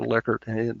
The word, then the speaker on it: Likert: Likert that's the way he pronounce his name not like heard and you